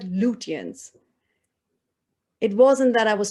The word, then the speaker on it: Lutyens: So the correct pronunciation of the architect, Edwin Lutyens.